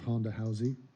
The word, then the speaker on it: Ronda Rousey: First of all, I love the way Brazilians pronounce her name, which is Ronda Rousey.